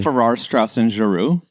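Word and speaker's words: Farrar, Straus and Giroux: Farrar, Straus, and Giroux.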